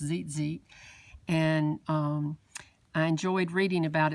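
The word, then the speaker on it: tzitzit: shawl, and the tassel, which is spelled T-Z-I-T-Z-I-T. It's pronounced zit, and I enjoyed reading about it so much that I decided to go ahead and do this page today.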